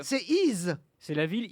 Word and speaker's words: Y: Le village d'Y, on prononce I, le nom de la ville, mais ça s'écrit Y, une seule lettre dans la vallée de la Somme.